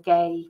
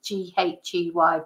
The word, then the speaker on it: Ghey: talking about the Brianna J case um I'm not sure if you pronounce it J or gay but it's ghy Brianna was a 15-year-old